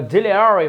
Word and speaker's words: auxiliary: আর একটা কথা তোমাকে আমি দাদারা একটু বলে রাখি, তোমরা কিন্তু এই যে অক্সিলারি বানানটা একটু দেখো, অক্সিলিয়ারি কিন্তু অক্সিলিয়ারি, আমেরিকানরা উচ্চারণ করে অক্সিলিয়ারি ভার্ব, AUXILI মনের সাথে একটু মিলাই দেখো তো, এই ভার্বটা তুমি আগে থেকে জানতে?